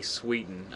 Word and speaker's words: Sweeten: case number 756 this is rosi and Bonnie Sweden I believe I pronounced that correctly right Deborah rosi yes you